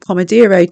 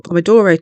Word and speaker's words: Pomodoro: to go through is the pomero technique or Pomodoro Technique sorry I always pronounce it wrong the Pomodoro Technique was